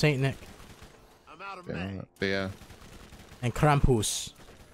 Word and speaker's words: Krampus: out of yeah and Krampus that's how you pronounce it not Krampus Kamp Kampus Kampus Krampus